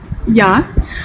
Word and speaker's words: Я: voir avec le R, je le prononce encore une fois, c'est Ya, ou comme le dirait une native. Я.